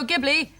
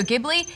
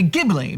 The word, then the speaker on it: Ghibli: hard G sound, but when you are referring to Studio Ghibli, it has to be pronounced with a J sound. Well, I've always heard people say Ghibli, but you seem to